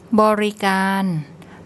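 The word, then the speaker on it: บริการ: So we have the B, then the implied O, R, then a short I, and the final syllable, we've got gogai, G sound, the long R, and we have a rua as a final consonant, which makes an N sound.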